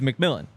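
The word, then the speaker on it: McMillian: I assumed it was McMillan yeah and then I asked him this past week how do you say your last name McMillan even though it's just spelled MC so McMillan number one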